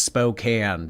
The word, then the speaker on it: Spokane: It's pronounced Spokane.